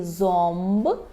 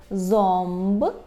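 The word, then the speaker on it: ząb: а з хвостиком ніби вимовляємо її як ом наприклад у слові зомб зомб зуб або домб домб так дуб чому вимовляємо ом подалі йде буква б і буква п а в позиції перед б і п у нас є звук ом є ще три варіанти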